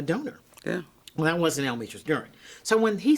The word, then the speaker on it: Almetris Duren: I said, did you mean Almitra's Duran? He goes, I don't know. I guess I don't know how to pronounce this.